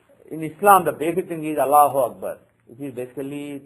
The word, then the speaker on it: Allahu Akbar: Even though some people these days pronounce it as 2 different words with a break, Allahu Akbar, it's supposed to be 1 word, but when you say it as 2 words, the impact changes.